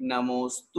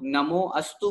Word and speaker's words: नमोस्तु: की आवश्यकता नहीं होती बहुत से लोग नमोअस्तु बोलते हैं नमोअस्तु नहीं नमोस्तु जब संधि विच्छेद करेंगे तो